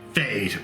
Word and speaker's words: Fejd: idea welcome today we take a look at fade this is a that's right fade okay right it's so f e j d